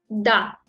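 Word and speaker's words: да: Da.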